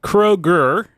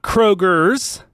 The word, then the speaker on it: Kroger: quick public service announcement to make it is pronounced Kroger not Krogers not croags not crochet now John we can